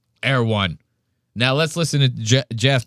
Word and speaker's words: Erewhon: But he calls it like Air One. Yeah, he completely pronounces it wrong. I don't even live in LA and I pronounce it right. Erewhon.